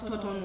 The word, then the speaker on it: Thornton: Like there's a road where I live called Thornton Road. Never the H is pronounced. It's always Toton Road.